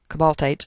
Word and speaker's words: cobaltate: Cobaltate is how you'd really put the emphasis on those syllables.